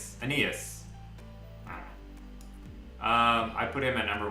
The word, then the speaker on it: Aeneas: And then again, I think Arenas Williams is the move for me. I've probably been saying this guy's name wrong. Aeneas.